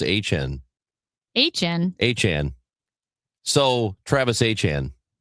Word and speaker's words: Etienne: He said, actually, my last name is supposed to be pronounced H-N.